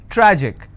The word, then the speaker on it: tragic: Tragic, tragic, I will stress on tra.